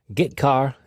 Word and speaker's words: getchar: The 2 most common C language character I/O functions are getChar and putChar. That's how I pronounce them.